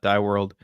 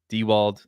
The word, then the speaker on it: DeWald: DW D dewald not dworld uh not dewald dewald that's that's how you say it just so everybody's aware